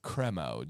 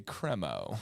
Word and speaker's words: Cremo: and it's actually pronounced cremo Dan if you look up their YouTube channel they say cremo cremo yes cremo you know it's the cremo of the crop don't name your company